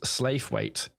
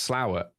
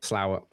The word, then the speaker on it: Slaithwaite: in a place called I read it as Slaithwaite. I was like, oh yeah, and someone's like, where's Slaithwaite? And they're like, where? Show me on a map. And apparently it's pronounced Slowett.